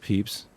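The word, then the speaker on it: Pepys: entry after a concert Samuel peeps I think that's pronounced peeps uh wrote that the sound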